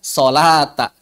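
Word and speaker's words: صلاة: Tapi bacanya sholata.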